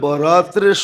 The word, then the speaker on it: বারাত: একটা হলো বরাত, একটা হলো বারাত। একটা হলো মুক্তি, একটা হলো চলন।